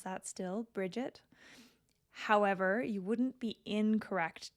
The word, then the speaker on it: Brighid: currently pronounce that still Bridget however you wouldn't be incorrect to pronounce it bre and that's that you know getting rid of a bunch of the letters in the middle of these Irish words these these Celtic words